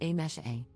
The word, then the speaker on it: Amse: For context, my name is written as amse but is pronounced as a mesh a.